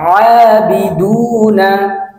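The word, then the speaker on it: عَابِدُونَ: আবিদুনা, আবিদুনা, আবিদুনা। এই শব্দের উচ্চারণ হচ্ছে আবিদুনা, আবিদুনা।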